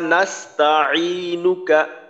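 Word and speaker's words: نستعينك: তারপর আইনের উচ্চারণটা যেন ফলকের মধ্যখান থেকে হয়, ইনুকা, যেন আইনের উচ্চারণটা হামজার মতো ইনুকা এমনটা না হয়।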